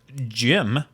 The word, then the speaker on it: Jymn: It's spelled Jymn, but pronounced Jim from what I'm being Like told. him? Yes. Like a him. Very. Rhymes with Yes, him. exactly. Yeah, rhymes with him.